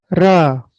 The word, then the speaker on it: ㄹ: ध्वनि सुनिएगा आप, यह है रा, रा, रा। आप प्रैक्टिस करिए साथ में, रिपीट करिए, बोलिए रा, रा, रा।